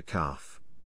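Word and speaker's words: ك: articulation points of the letter calf calf will pronounce from the deepest part of the tongue sound is produced from the portion of the tongue which is near its base touching the mouth roof foreign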